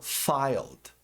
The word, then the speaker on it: filed: O ED também aqui, nesse ED, o E não é pronunciado. Apenas um som de D.